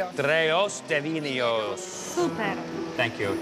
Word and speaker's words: Trejos devynerios: Trejos devynerios. Trejos devynerios. Trejos devynerios. Super. Thank you. Trejos devynerios.